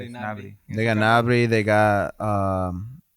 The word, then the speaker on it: Gnabry: Nabry. Yes, Gnabry. They got Nabry. They got Adeyemi. I believe that's how it's pronounced.